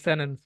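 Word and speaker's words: sentence: এবং এটার আমেরিকান উচ্চারণ কি জানেন? সেনেন্স। টিটা বাদ দিয়ে দেবেন, সেনেন্স।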